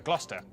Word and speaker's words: Gloucester: a couple of basics sester is pronounced stir leicester worcester gloucester w at the start